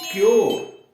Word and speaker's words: cure: उसके बाद CURE, क्योर, CURE, क्योर।